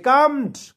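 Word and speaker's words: calmed: এটা বলে দিলাম দে কামড এখানে এল এর উচ্চারণ কিন্তু হবে না দে কামড এ লিটিল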